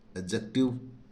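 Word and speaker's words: adjective: और किसी वर्ड में जे से पहले डी हो तो डी का उच्चारण नहीं होता है है ना यानी कि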